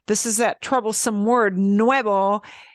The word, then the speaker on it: nuevo: is that Troublesome word Nuevo is very close in pronunciation to Nueve for the number we want to be smiling at the end Nueve for the new